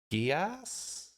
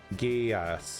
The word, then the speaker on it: Geass: Geass. Okay, it is Geass. Or is it Geass? Is it a soft G or a hard G?